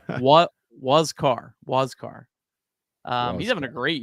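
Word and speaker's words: Huascar: think like I might not want the full pronunciation guy it says what wasar wascar um he's having a great year for the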